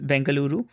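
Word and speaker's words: Bengaluru: say that yeah uh we have both the names the new name is bangaluru but uh yeah I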